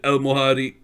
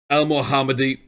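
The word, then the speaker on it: El Mohamady: mccartiff alex smith he's ahmed el mohadi ah that's not how you say his name el mohammadi john morrison captain for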